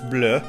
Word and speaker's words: Bleu: owned egg into the ocean volcano yes that's blue i call her blue and i will continue